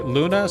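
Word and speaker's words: Lune: The E at the end of Luna isn't pronounced, by the way. Luna sounds better than Loon, so I'm sticking with Luna. Also, Loon makes it sound like I'm calling her crazy. I like her little looking around animation.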